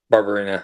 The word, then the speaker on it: Barberena: I always say Barberena, but it's Barberena? Barberena, yeah.